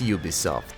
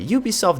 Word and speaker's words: Ubisoft: for this game and they all rhyme with my piss off yeah that's right you guessed it it's Ubisoft known for Assassin's Creed